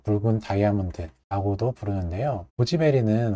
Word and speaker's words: 고지 베리: 뭐 붉은 다이아몬드라고도 부르는데요 고지 베리는 원래 구기자의 중국식 발음이 이기 때문에요 발음이 이제 고지